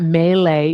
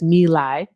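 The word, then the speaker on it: My Lai: I actually um the pronunciation is mi because I wanted to make sure I was pronouncing it right. So it's not melee, it's mi.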